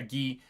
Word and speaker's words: Guy: this point we meet guy guy is G yeah but I like that it's spelled guy um oh but yeah ghee uh ghee is uh